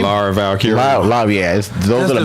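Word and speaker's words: Lyra Valkyria: Laura Valkyrie.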